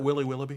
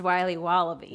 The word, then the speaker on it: Wiley Wallaby: Can I have a piece of that Willy Willoughby? Wally Wibbly. Wiley's Wallabies. Wallaby Wallies? Wilby Wobbaby? It's pronounced Wiley Wallaby.